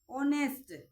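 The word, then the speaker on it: honest: एयर यानी कि इसमें एच साइलेंट रहेगा एयर तो इसमें साउंड आ रही है वोवेल की तो इसलिए इससे पहले एन लगाएंगे ऑनेस्ट ऑनेस्ट मैन ओ वोवेल की साउंड आ रही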